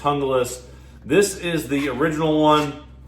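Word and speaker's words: Junglas: Essie hungus um it's spelled some people say jungas but it's actually pronounced hungus this is the original one um a big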